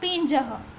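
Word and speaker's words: पिंजः: Switch दिखाई दे रही है, इसका प्रोनाउंसिएशन खास ध्यान रखना पड़ेगा, क्योंकि बीच में जो सिंबल है उसको पी के ऊपर डॉट समझना है, यानी कि पिंजह। इसको ज कहेंगे तो पिंजह।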